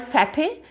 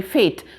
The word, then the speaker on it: fate: fat two vowels but e is not pronounced it is not giving you sound it is not called fatay it is called fat sorry fate so this is one